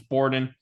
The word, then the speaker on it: Borden: we came upon on because he is not francophone, so it's not Bourdain, it's not Bourdain or anything else. It's Borden because he's a boring man that borders on insanity and borders on imperialism.